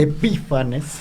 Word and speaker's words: Epífanes: Bueno, ya lo comentó Raúl, o sea, todo iba sobre ruedas hasta que llega Antíoco IV Epifanes, ¿verdad? Porque se manifiesta. Con acento en la y este Epífanes, entonces, este hombre pues quiso helenizar el templo y a los judíos.